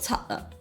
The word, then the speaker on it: 七: Lok chat is one of them. The actual pronunciation of 6 is lok.